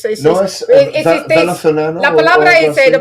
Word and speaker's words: venezolano: Venezuelón. Sí, yeah, de ¿verdad? pronunciar No, es venezolano.